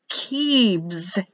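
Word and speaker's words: כבש: Lamb, kebs, kebs, kebs, k, e, b, written as a b, but pronounced as a v, e, and s.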